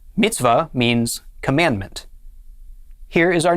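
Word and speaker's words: מִצְוָה: be pronounced va and the hay on the end is silent so our first syllable would be mits and the second syllable altogether this is pronounced mitzvah mitzvah mitzvah means commandment here is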